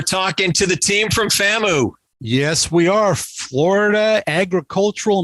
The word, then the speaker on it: FAMU: little about yourself uh yes so um it's pronounced famu fantasy i have been pronouncing it wrong for